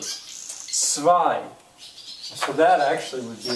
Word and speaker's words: zwei: I told you the W's will usually have the sound of a V, sort of. Zwei.